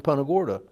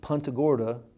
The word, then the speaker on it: Punta Gorda: to New Orleans that stopped in Punta Gorda.